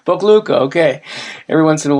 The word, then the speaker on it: Pokljuka: Pokljuka. Pokljuka, okay.